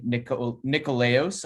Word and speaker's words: Nikolaos: With me, we have, aka Nikolaos, I believe is the Greek pronunciation.